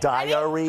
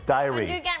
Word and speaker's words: diary: no no no wait we say diary like three syllables he says diary two no no no again